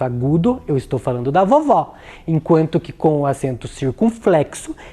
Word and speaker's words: vovó: elas a primeira com acento agudo olha só vovó vejam que o timbre da vogal é mais